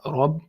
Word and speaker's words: Rabb: So you have capital R here for heaviness, Rabb. Okay, here you have B, which is simple ba in English.